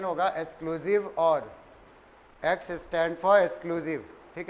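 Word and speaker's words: XOR: बोलते हैं एक्सक्लूसिव और, एक्सक्लूसिव और, ये इसका प्रोनाउंसिएशन होगा एक्सक्लूसिव और, एक्स स्टैंड फॉर एक्सक्लूसिव, ठीक है।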